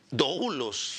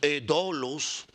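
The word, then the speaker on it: δοῦλος: que usted está pensando es dlos algo así se pronuncia en griego yo pasé griego arrastrado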